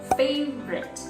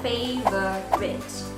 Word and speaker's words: favorite: word let's say one for example the word favorite we don't say favor writ because the o sound